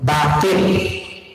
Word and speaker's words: batil: Cuma pengucapannya yang kurang baik ya, yang kurang batil. Karena di tulisan itu BATHI, pasti baca batil. Batil, tok ya, batil. Bukan bahil, membahil itu cerai.